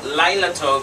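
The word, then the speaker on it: לילה טוב: say night lila lila lilato sounds like flower right lilato okay a pretty girl's name right lyla beautiful girl thank you and so laila tove is good night so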